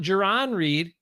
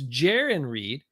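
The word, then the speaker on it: Jarran: not Jaron Reed like a lot of people said early on it's Jaren Reed and jiren rhymes with Darren is doing pretty well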